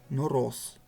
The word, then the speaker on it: Нороз: Его названия стали произносить на арабский манер – Нороз.